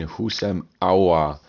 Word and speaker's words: Houssem Aouar: We have an exciting one here in Houssem Aouar. I believe that's how you pronounce his name.